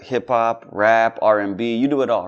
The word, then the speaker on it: Are: So I was like, A-R-E means R, so you pronounce it R, so for sure.